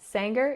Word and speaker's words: Sanger: Sanger, California. Yep. Y Sanger.